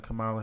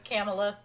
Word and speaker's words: Kamala: y'all mispronounce him well I hate when people say her name is kamela I hate that she is not a camel her name is Kamala okay my car my